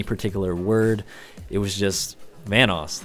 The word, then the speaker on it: Vanoss: pronounce it you know people call me vanis Vos you know venuse I've been getting a